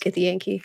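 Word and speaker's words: Githyanki: both gith zarai and gith Yankee now accurately pronounced get the Yankee yeah yeah because um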